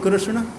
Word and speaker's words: कृष्ण: मरा हो जाएगा अ कृष्ण बोलिए तो कृष्ण क में ऋ लगा हुआ है अ मुर्धन स् वो भी आधा अब फिर मुर्धन न है बड़ा कठिन है इसका